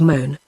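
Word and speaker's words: Mone: Lake which was called moan pronounced like groan a word of unknown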